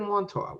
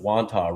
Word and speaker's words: Wantagh: Where was it in Wantagh?